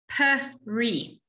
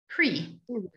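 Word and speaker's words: פרי: So peri. You all know the word peri. but you know it as pre. Bore, pre, hagafen. Bore, peri, hagafen.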